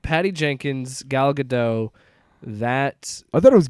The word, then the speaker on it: Gadot: So it looks like Patty Jenkins, Gal Gadot, that I thought it was Gal Gadot. whatever her No, name the T is. is silent.